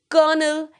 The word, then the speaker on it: colonel: Second word is COLONEL. Many of you are aware with this word. This is a rank which is above Lieutenant Colonel in Indian Armed Forces.